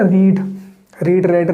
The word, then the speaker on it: read: पढ़ना पता है ना, रीड रेड, सेकंड और थर्ड फॉर्म रेड और रेड होती है, बट सर सिर्फ बोलने में रेड होती है, स्पेलिंग उसकी भी READ होती है।